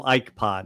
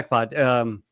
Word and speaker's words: Ikepod: I've always I call them Ikepod. Is that the right way to pronounce it? Yep, that's it. Yeah, Ikepod.